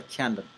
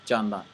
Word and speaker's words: Jandan: I begin to call myself a Camden, although my name is pronounced as Jandan.